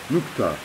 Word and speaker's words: نكتة: And this letter, the final letter, the ta marbuta, is usually pronounced with a little puff of air. Not quite as strong as an H letter, but a little puff of air at the end.